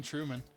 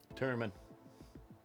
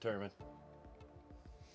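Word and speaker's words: Wellington Turman: Adolfo Vieira going up against Wellington Truman. Turman. Yeah, it's pronounced Turman.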